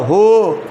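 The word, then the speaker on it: who: দেখো এখানে ও আছে ও থাকলে এইচ এর উচ্চারণটা হবে বলো হু হু হুজ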